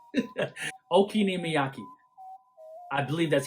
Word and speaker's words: okonomiyaki: And then you have the okonomiyaki.